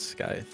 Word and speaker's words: Skyth: It's Skyth. Hello, dude. Skyth, how's it going? Yo, hello, Skyth or hello, Skyth? hello. It is Skyth.